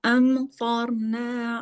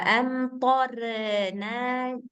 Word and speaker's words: أمطرنا: Mbak Teti bacanya jangan wa amtorna, jangan jangan orna gitu karena dia ini tebal.